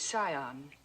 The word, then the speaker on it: scion: The word is scion. The C is silent.